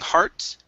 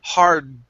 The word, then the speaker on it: hard: that d here so instead of saying hearts it's going to be hard hard to play try